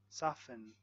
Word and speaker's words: soften: Silent T in words like listen, castle, valley, soften, soften, gourmet, gourmet, asthma, asthma, Christmas, whistle. Silent U in words like guitar, guilty, guard, colleague, and guess.